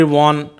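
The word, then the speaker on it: Vaughan: Henry wagon नहीं बोलते हैं, वॉन, ही इज the another metaphysical poet.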